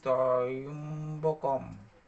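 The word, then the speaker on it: ত্র্যম্বকম: ওম ত্র, ওই যে জ ফলা আছে তারপরে সেটা ইয়াম বা ইয় ইয় উচ্চারণ হবে। তাহলে উচ্চারণটা এরকম হবে, ওম ত্রয়ম্বকম।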